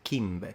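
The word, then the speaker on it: chimbe: And the fact that the C is pronounced like a K is the first point of connection that we find with how classical Latin was pronounced by, for example, the ancient Romans, particularly the upper class.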